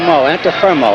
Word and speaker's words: Antuofermo: firmo in the red and a firmo's name is spelled by the way a-n-t-u-o-f-e-r-m-o anta firmo and he's from brooklyn both weigh 160 pounds